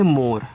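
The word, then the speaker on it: more: पे उच्चारण करना है र के रूप में इ का उच्चारण होगा नहीं तो ये आपका मोर हो गया और मोर का मतलब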